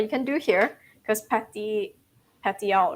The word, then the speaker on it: petiole: Petiole. Petiole. Well, some of you are probably thinking, is that really how I pronounce it? Yes, it is. We didn't know.